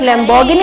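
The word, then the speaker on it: Lamborghini: So please आप गाने के प्रोनाउंसिएशन से मत जाइए, क्योंकि गाने में उन्होंने गाना गाने के लिए ऐसे लैम्बोर्गिनी बोल दिया है, बट लैम्बोर्गिनी इसका प्रोनाउंसिएशन नहीं होता है, इसका प्रोनाउंसिएशन होता है लैम्बोर्गिनी।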